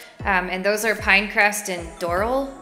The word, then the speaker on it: Doral: And those are Pinecrest and Doral. I think they call it Doral, but it's spelled like Doral.